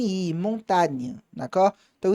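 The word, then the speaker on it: montagne: n o n i montâ. Na então esse G ele praticamente não se pronuncia.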